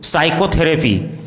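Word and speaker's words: psychotherapy: यदि किसी वर्ड में MN साथ में हो तो एन का उच्चारण साइलेंट होता है, जैसे autumn, column, dam, him, condemn, सोलम।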